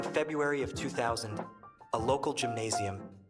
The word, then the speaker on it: Gymnasium: During February of 2000, a local gymnasium, pronounced with a soft G and essentially the German equivalent of a high school, was putting on a Valentine's dance party.